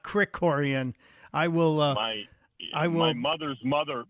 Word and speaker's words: Krikorian: mispronouncing as a guy who gets his name mispronounced all the time I'm embarrassed I said kiroran not Crick Coran I will uh will my mother's mother my